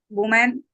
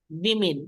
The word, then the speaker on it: women: be like the two woman and the older man sitting in my living room working for money and hoping I don't fire them women plural is women like the two women okay go ahead for